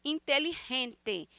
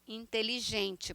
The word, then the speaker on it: inteligente: vimos no quadro passado inteligente com essa pronúncia com esse G puxado como se fosse um R intelligerente inteligente para nós Valiente valente valente é